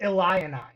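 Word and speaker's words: Illini: it's SP illin Eli but you pronounce it Eli you pronounce it with extra eyes and end from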